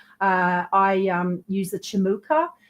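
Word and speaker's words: Cimuka: I um use the chimuka it's it's pronounced chimuka because I believe it comes from Turkey but it's it's spelled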